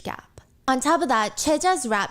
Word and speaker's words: Choiza: She is caught by the paparazzi spending time with this rapper named Tehe, or I guess the English pronunciation would be Choiza.